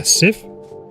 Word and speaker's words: Civ: Ah, Civ? Like civilization.